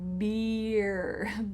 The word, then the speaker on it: beer: And he was drinking beer. Beer. It's the long E.